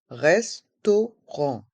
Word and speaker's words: restaurant: le son en r restaurant et le T est muet le restaurant Le restaurant